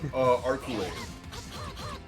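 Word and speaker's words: Arcueid: Sorry, I don't know how to pronounce her name. Arculate. Oh, okay. That is how you pronounce her name. Her name is Arculate.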